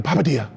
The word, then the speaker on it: Papadia: How can we make the Papadia a little bit, you see how you say that? Papadia, you have to say it like that.